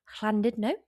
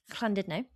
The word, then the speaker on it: Llandudno: There's one road that goes from Llandudno. Yeah, beautifully said. Thank you very much. I think it's actually clan. Well, it's spelt sort of, it looks like it should be Llandudno. No, Llandudno.